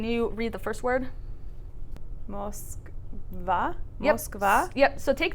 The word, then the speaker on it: Москва: So take that, and now with that o, remember it becomes an a sound. It's one syllable before the stress. So knowing that, how would you say it? Moskva. Moskva. Yeah, Moskva. Moskva. Yeah, and so even though it's written Moskva, again, that vowel reduction changes it to the a sound.